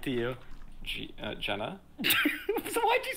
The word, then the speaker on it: Genna: Jenna. Jenna? No, what do you say, Gina? I said Genna. It's not Genna. What? It's Jenna.